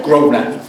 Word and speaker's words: Grosvenor: I'm really excited to hear from our speaker this evening, Peter Grosvenor, who is professor, am I pronouncing his last name correctly? Grosvenor. Grosvenor. Yeah.